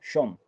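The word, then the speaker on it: יום: En hebreo original, mesorético, la palabra se escribe yom, Y-O-M.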